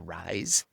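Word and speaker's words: Rhys: The other actor in that uh show, Michael, and I'm going to mispronounce his last name, probably Michael Rise. It's like RH YS.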